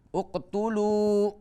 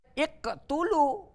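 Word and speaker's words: اقتلوا: Kalau huruf ketiga ini dhammah, maka hamzah wasol ini harus dengan dhammah. Jadi dibacanya uqtulu Yusuf. Uqtulu Yusuf, ya. Tidak boleh iqtulu atau aqtulu, harus selalu dengan dhammah.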